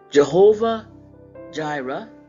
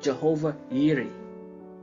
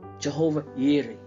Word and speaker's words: Jehovah Jireh: amen amen all right let's move on Jehovah Jireh some people call it but actually in the Hebrew is pronounced Jehovah yiri Jehovah yiri and it means the Lord will Pro